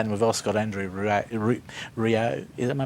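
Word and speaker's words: Rieu: Twain after that, and we've also got Andrew Rio. Am I pronouncing it right? Rayu.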